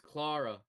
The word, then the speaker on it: Clara: is it Yeah, it's Clara, dumbass. Clara? I'm trying here. It's Like just Lara Croft with a C before the L.